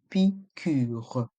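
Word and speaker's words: piqûre: une prise de s dans le mot picû il y a un accent circonflexe sur le U on prononce le U pure une picure une prise de sang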